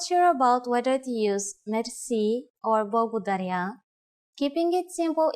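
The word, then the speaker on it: мерси: which word that is mer mer Mery is a long word from French but it is pronounced with a typical Bulgarian hard R it is used mainly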